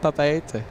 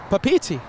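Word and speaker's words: Papeete: lot of messages say that it's not papaya no yeah I've had a lot of messages what there's another pronunciation papiti really yeah I've I've had a few viewers say like hey Peter you know you're mispronouncing it it's another it's another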